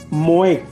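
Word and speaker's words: מועד: realidad la palabra hebrea moët mo acento en la e de Traducir moé como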